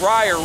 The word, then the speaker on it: Ra: just real quick now how do you say the word ride the Sun God and Egyptian is right it's really pronounced raya ray in that same